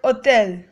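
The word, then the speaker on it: hôtel: g meaning railway station H is usually silent in a word like the word otel J is pronounced like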